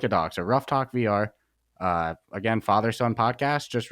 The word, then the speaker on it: Ruff Talk VR: like extra ugh yeah it's r u f f uh and then talk and vr rough yeah exactly like a dog our podcast producer reggie